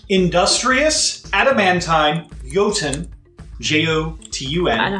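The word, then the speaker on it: Jotun: okay you ready industrious at a man time yotan j-o-t-u-n i know how to play it i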